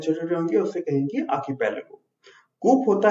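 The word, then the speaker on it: archipelago: इसका प्रोनाउंसिएशन में ध्यान दीजिएगा, आर साइलेंट है। आर्कीपेलागो, इसका मतलब होता है group of many islands in a large body of water.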